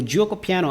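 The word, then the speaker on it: Giuoco Piano: number four against the gyoko piano or the joko piano as you pronounce it in the djoko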